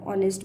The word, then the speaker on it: honest: For example, the word hour, honest begin with a consonant H but H is silent, so we write N hour.